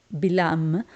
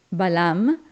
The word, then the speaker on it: Bilam: personaje fascinante que es bilam en Castellano se dice Balam pero en hebreo la palabra es bilam y ahí lo vemos